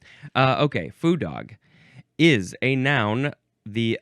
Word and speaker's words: foo dog: But it is spelled here, foo, and I think the pronunciation is saying ooh and not oh. Yeah, ooh, I think that's it. So foo dog.